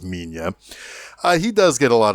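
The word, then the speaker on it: Minilla: that titular sun which goes by Mina or Manila depending on uh the dub or what you see and how people pronounce it I typically pronounce it as Mina he does get a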